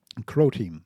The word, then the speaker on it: Croteam: was they called Crow Crow team Crow team rhymes with pro team Crow because of croati I feel so stupid